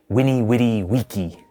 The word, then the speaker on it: Veni, vidi, vici: battle, said his famous Veni, Vidi, Vici, I came, I saw, I conquered, and then returned to Italy. As an aside, in classical Latin, it's pronounced more like Winnie, Witty, Wiki.